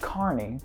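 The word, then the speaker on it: Kearney: Also, this road is pronounced Carney.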